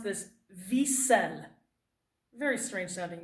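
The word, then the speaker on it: Wiesel: author's name his name is Ellie then you pronounce this V said very strange having name and leave yourself male ok it's actually short for eleazar eleazar eleazar but he goes by Ellie okay Ellie V cell is his name he was 15 years old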